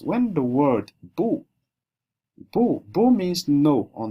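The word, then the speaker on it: 不: here is them boo so he said when it's when bu is following a fourth tone uh it changes to a fourth tone this rule is always followed automatically even though it will not be reflected in the pin. So when you're reading it, you'll see it written this way but because it's following the fourth tone you pronounce it this way.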